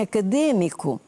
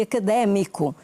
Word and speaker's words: académico: Os brasileiros dizem econômico, dizem acadêmico. E nós não dizemos econômico nem acadêmico, nós dizemos económico e académico. O acento é agudo.